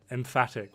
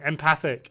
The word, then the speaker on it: empathic: Emphatic. What's wrong with emphatic? What? Did I say it wrong? Empathic. It's empathic. Doing the league events now, and then we're going to run off and do the legendaries.